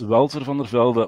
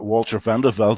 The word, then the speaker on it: Walter Van de Velde: me introduce myself quickly my name is Welton from The Velvet or Walter Van de Velde when it's pronounced in English and I started my